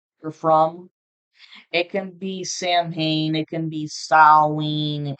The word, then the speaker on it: Samhain: I actually had a viewer who made a comment and said that it's pronounced as Salween. Me personally, I say Samhain, but I looked it up, and depending on what part of the world, 11:11 on the timer